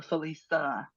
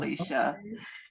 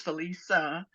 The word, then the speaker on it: Felisa: um I'm sacred woman Felisa and the way you pronounce my name is actually like with an S uh Felisa um not Felicia and it took me